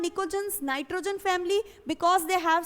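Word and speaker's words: pnictogens: P-N-I-C-O-G-E-N. Okay, and here the P is silent, so I am pronouncing it as nicogens. Why they are called nicogens, nitrogen family?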